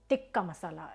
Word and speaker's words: tikka masala: about chicken Tika Masala tikka masala is the right way to say it I'm you know listening to tikka masala started saying tikka masala it's tikka masala chicken tikka masala um